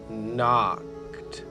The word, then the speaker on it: knocked: house he can knocked the k is silent she's just keeping the end company while he does the talking so it's he knocked on the front door that's it there was